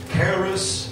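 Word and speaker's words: χάρις: grace here is a greek name that is pronounced keras is from what we get the word charismatic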